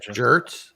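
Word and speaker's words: Schertz: no it's the town it's actually called shirt S no it's it's it's to spell it out it's s c h r TZ it's like again it's like a pronounced the same as like a like a t-shirt like if you want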